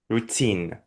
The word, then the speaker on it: routine: Чаще всего ударение на первый слог в большинстве английских слов, но есть исключение, тут будет второй. Routine.